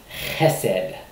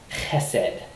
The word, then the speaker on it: chesed: And so the way you pronounce that is chesed, chesed. Che, gotta get that guttural in there. Chesed. You could put it in English as H-E-S-E-D. And so it's from left to right. So chesed is the way that you pronounce that word, chesed, and it gets translated